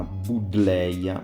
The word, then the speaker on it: Buddleja: Ed eccola qui la prima Buddleia, ma io preferisco la pronuncia all'inglese in quanto questa pianta prende il nome da Adam Buddle, che era un medico e botanico inglese del 1700, quindi credo che la pronuncia corretta sia quella anglofona.